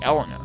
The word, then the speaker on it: Elena: oath it's spelled with one L but it's pronounced Elena which like this spelling makes you think naturally